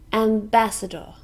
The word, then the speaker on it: ambassador: ambassador and bass adore four syllables can you hear the stress it's on the second syllable ambassador this is a noun